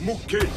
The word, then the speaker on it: Mouy: Mouy, ça se prononce Moué.